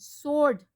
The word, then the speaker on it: Sword: Sword, W is not pronounced in the whole of its pronunciation.